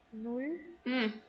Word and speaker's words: null: நுல். நம்ம இங்கிலீஷ்ல நல் அப்படின்னு படிப்போம் இல்லைங்களா? அந்த மாதிரி இருக்கக்கூடாது. இது எப்படி இருக்கோ அப்படியே ப்ரொனவுன்ஸ் பண்ணும்.